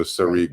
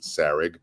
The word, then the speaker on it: Sarig: You know, you guys pronounce my name perfectly in the way it's meant to be pronounced, which is it's a Hebrew word. My parents are Israeli, so Sarig. But almost everyone in the music business for many, many years and throughout my entire life is pronounced Sarig.